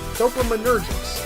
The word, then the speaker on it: dopaminergics: Dopaminergics.